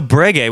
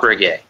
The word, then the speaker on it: Breguet: It's not Breguet. Breguet was an old man who made beautiful watches.